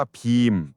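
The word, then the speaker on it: ภีมะ: พี่ น้อง ตระกูล ปานถบ พีมะ ภาษา อินเดีย เขา เรียก ว่า พีม ภาษา ไทย เรียก ว่า พีมะ แต่ อินเดีย อ่าน ว่า พีม แล้ว ก็ คน ที่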